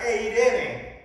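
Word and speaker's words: εἰρήνη: Esta palabra que se traduce aquí en nuestras Biblias como paz, es la palabra que en griego se pronuncia eirene.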